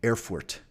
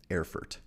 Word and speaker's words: Erfurt: And we're going to the city of Erfurt in Germany, or what is now Germany, right? Erfurt. Okay. So I could pronounce it a little more German, Erfurt. It's not going to sound good.